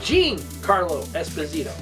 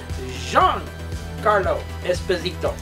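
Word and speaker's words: Giancarlo Esposito: um Screen Rant or another or another one pronounced his name as Jean as uh no Jean Carlo Esposito and uh I said that's not how it's said I says it jeang Carlo Esposito one bad thing about this dark saer it's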